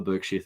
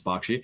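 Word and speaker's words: Berkshire: Oh man, how do we pronounce it? Burkshere or Barkshshire? Only ever Burkshere. Thank you, Adam. I will not listen to anyone who tells us it's Barkshshire.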